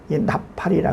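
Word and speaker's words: נפל: 근데 여기 뽑다라는 단어를 히브리 발음으로 나팔이라 그래요.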